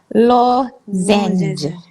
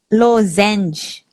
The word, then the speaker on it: lozenge: Lozenge. No, don't pronounce the ES at the back. Lozenge.